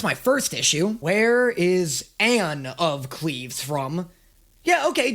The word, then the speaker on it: Anne: Okay, well, I've been saying her name wrong. That's my first issue. Where is Anne of Cleves from?